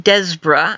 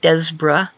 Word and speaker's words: Despereaux: known as grim Jim Jim des breh I had learned recently he pronounces it des bruh Jim des bruh also known as grim